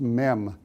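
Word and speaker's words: מם: at the very end is an M it's pronounced mem in Hebrew and if you look at the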